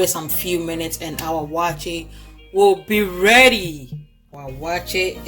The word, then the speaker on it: waakye: Some people say wanche. Wanche, our waakye is ready. It's not wanche, okay? You know those people who say wanche. I know. The Americans say wanche. It's not wanche. It's waakye. Waakye, yes. Okay, so our waakye is